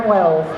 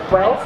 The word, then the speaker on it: Welz: I have Welz. Welz, is that how you say it? Yep, Welz.